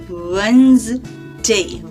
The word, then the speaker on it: Wednesday: How to write it? W-E-D, wed. N-E-S, ness. T-A-Y, day. But how to pronounce it? Wednesday. Wednesday. D is silent.